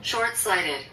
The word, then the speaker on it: short-sighted: 그 다음에 이건 이제 Short-sighted. short-sighted. 여기는 short-sighted 이렇게 하는데 우리는 더 인식되게 short을 R 발음 잘해야 돼요.